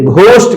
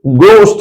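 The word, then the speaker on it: ghost: को गो पढ़ा जाएगा बहुत से लोग कंफ्यूजन में इसे घोस्ट कहते हैं वो गलत है इसका करेक्ट प्रशन गोस्ट है ना कि घोस्ट this one should be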